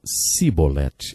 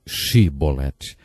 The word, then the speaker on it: chibolete: regiões do nosso país eles não conseguiam pronunciar o som CH e por isso diziam sibolete ao invés de chibolete jeft degolou 42.000 homens porque